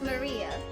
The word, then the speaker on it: Maria: Of course, it's pronounced Maria.